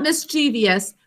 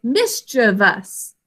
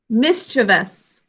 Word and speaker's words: mischievous: this as mischievous but that's not the correct pronunciation but it is what a lot of people end up saying so it's not mischievous we say mischievous can you all say that with me mischievous is the correct way to say this so